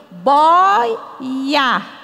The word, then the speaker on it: boia: embarcação falhou secou virou a palavra boia não tem mais acento porque eu digo boia tá então o i e o o ficam juntos e a sílaba é paroxítona a sílaba forte é a penúltima Então a gente vai